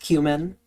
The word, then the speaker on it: cumin: For the record, yes, I know it's pronounced cumin.